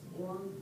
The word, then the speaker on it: Wang: Tell them that everybody said Wong, very good.